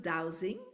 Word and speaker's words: dowsing: we pronounce it dowsing. Oh, Yeah. douse. That's why I'm like dose, douse.